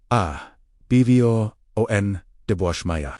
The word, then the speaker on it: Abwoon d'bwashmaya: Pronounce with me, slowly, Abwo D'bwashmaya.